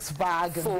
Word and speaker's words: Volkswagen: to look at is VOLKSWAGON. Or Volkswagen, another Oyabazi. Volkswagen. It's Volkswagen, because the Germans pronounce the V as an F and the W as a V. So it's Volkswagen.